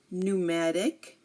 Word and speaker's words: pneumatic: came before an us now if a word begins with pn or PT again if a word begins with P N or PT um we do not pronounce the P here also um here we have